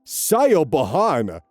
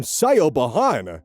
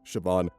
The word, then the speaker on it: Siobhan: cause her teachers to call her Siobhan. Not at all how you pronounce it.